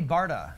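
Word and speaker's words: Bharda: Barda. Barda. Barda. H is silent.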